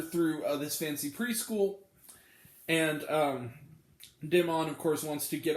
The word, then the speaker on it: Damon: He pronounces it, they say Damon, like it's Damon, like French.